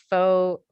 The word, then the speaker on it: pho: I would say either pho, however I properly say it. Pho. Yeah. Pho. In the Okay. Midwest, we all say pho. We know it's not right, but it's still what we do.